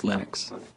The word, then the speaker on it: Linux: And I really don't care how people pronounce my name, but Linux is always Linux.